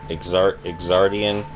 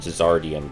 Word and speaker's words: Exardian: Go play Exardian, or Page Chronica. I will be very bothered if the way you pronounce that game is just Zardian, because that's what the letter Z is for.